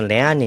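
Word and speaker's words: lernen: 여러분 우리가 아직이 단어 안 배웠던 거 같은데 레르헨 보통 이제 독일로 발음에서 레아낸 이렇게 하는데 레아낸이란 말은 배운다는 뜻이고요.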